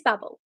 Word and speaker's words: Babel: And then I learned that it is Babel.